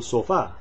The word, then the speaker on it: sofá: You would ask, ¿Cuánto cuesta el sofá? Keep in mind that sofa is sofá in Spanish, the accent on the a, and it's masculine, el sofá, even though it ends in an a, oddly enough.